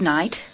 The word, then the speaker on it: night: İngilizce'de T'den önce gelen G, H harfleri okunmaz. Şu kelimeleri tekrarlayarak bu kuralı öğrenin. 8. Straight. Go straight on. Right. Good night.